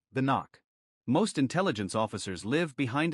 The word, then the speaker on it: NOC: Inside the agency, it's called NOC. Pronounced like knock.